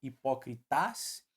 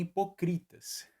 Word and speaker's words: hipócritas: Eu nem falo hipócritas e nem hipocritas, não é mesmo? A gente fala hipócritas.